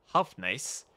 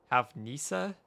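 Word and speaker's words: houfnice: You, the Omega Cannon, the Hufnice. I don't know how to pronounce that. Hufnice? Hufnice? It is Hufnisa.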